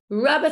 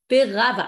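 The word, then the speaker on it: רבא: Rava Amar, but Rava with an aleph, that's different Rabba with a hey, we pronounce it as Rabba.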